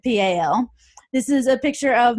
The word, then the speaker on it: Powell: I'm from Powell, Tennessee, and we spell that P-A-L, or at least we pronounce it P-A-L.